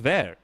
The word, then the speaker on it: Vert: Vertcoin, like Roger Ver. Sorry for the Ver overload, but it's pronounced Ver.